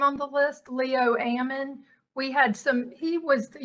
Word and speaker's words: Ammon: Okay, yes, I can hear you, but please pronounce it Ammon. That's how you're supposed to pronounce it.